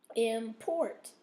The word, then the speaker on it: import: comes a c okay import or is in the second syllable there's your Str your stress Norm noral or